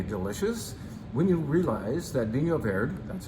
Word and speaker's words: Vinho Verde: This is delicious wine, but it's more interestingly delicious when you realize that Vinho Verde, that's how you pronounce it, is a region, not a grape, not a wine type.